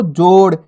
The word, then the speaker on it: जोड़: अब जैसे यहाँ पे देखो बिंदी लग गई डा के नीचे, तो अपन कैसे पढ़ेंगे इसको? जोड़, यानी कि अड़ा करके उच्चारण करेंगे, जोड़।